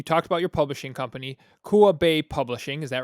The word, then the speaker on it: Kua Bay: Okay, so you talked about your publishing company, Kua Bay Publishing. Is that right? Did I pronounce that correctly?